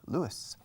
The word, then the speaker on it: Lewis: In fact, the name Luis in English, Lewis, y Lewis, como Jerry Lewis, is pronounced the same, Lewis.